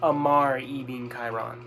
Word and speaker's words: Ammar ibn Khairan: I've been saying that name wrong this entire fucking time. Ignore what I said about Assad. It's Ammar ibn Khairan.